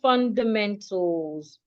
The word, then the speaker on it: fundamentals: Take note of how I pronounce the word fundamentals. I didn't say fundamentals. Most times when we have words ending in suffix AL, the letter A is usually silent. So you don't say fundamental, you don't say tal, no.